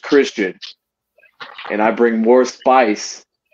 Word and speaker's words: Xtian: going to know that X Tian is pronounced Christian and I bring more